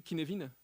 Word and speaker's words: Cynefin: C'est CYNEFIN. Ouais, c'est un nom de merde. C'est gallois. C'est gallois.